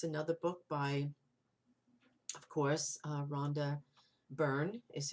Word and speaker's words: Rhonda Byrne: a hero that's another book by of course rhonda byrne is how you pronounce her name and i just think and